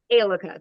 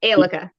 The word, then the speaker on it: Aeleka: Um, tell me how to pronounce your name again, please. Alica, that's fine. Alica.